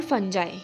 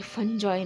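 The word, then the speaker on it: fungi: तो ऑल फंजाई यह फंजॉय नहीं है। This is फंजाई। ऑल फंजाई are multicellular accept yeast. सारे जो फंजाई होते हैं या फिर फंगी होते हैं जो भी आप बोलेंगे प्रोनाउंस किए करेंगे। इट्स all depend on यू। इसको फंजाई फंगी दोनों बोल सकते हैं।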